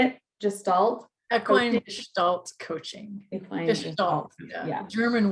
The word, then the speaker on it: Gestalt: Equine Gestalt coaching.